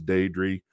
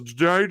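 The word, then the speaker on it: Deirdre: wife's thing it's hilarious her name is de dree Tarot marketer will call our house and it's just like all always Jerry they're not even close dude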